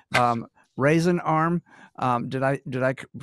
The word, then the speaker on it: Raisin Arm: everything correctly spelled um raisin arm um did i did i pronounce that correctly yes sir you you got it and how is raisin arm spelled as in as in dried grapes r-a-i-s-i-n okay i thought